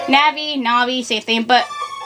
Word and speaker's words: Navi: I pronounce her name Navi na'vi same thing but her name sounds like navigate so Tech I mostly call her Navi cuz it's short for navigate so yeah hello hello